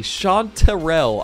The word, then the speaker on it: chanterelle: this thing anyway so it is sean terrell with an e-r-e-l-l-e chanterelle i don't know if